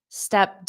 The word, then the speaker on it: stepped: Stepped up, stepped up. Almost the same there because the pronunciation of this ED is stepped.